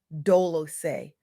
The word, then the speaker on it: Dolce: I'm your host, Dolce, pronounced doolos, like sweet softness whispered in French.